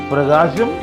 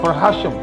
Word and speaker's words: Prakasam: My own name, Prakasam, will be pronounced as Prakasam or Prahasham. Absolutely correct in Tamil. Don't make wrong comments on that. It is perfect Tamil.